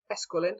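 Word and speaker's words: Esquiline: to the Sorry, I can't hear how to pronounce that word, and I'm learning Latin, so I should figure it out. Esquilin, there we go.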